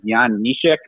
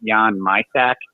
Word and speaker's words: Jan Mysak: and this year, I awarded to a player named, the real way you pronounce his name is Jan Mysak, but when he came over to the OHL and they pronounced it Jan Mysak.